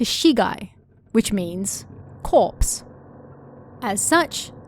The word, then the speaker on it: Shigai: Its official name is Shinkai Woods, with Shinkai meaning the opening of uncultivated land. It's believed that over time the pronunciation changed from Shinkai to Shigai, which means corpse.